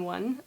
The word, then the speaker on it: Å: circle above it and it's pronounced o kind of like pronouncing the English o but with a bit more o I can only imagine